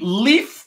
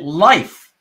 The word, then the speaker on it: Leif: with that name and he actually pronounces it life as an l-i-f-e you